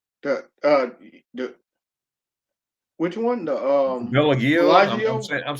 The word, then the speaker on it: Bellagio: Is it the Belagino? The the which one? The Bellagio?